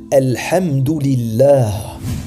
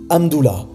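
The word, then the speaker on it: الحمد لله: Ils disent par exemple « Hamdoullah », et ceci signifie, si on traduit mot à mot, le prolongement d'Allah.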